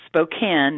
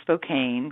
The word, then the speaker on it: Spokane: So I read with him, and then he goes, okay, it's Spokane, not Spokane, because I had mispronounced the city, Spokane, Washington.